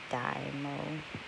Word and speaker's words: DYMO: label printer so i heard the best was dynamo and that's how you pronounce it and it's a label writer i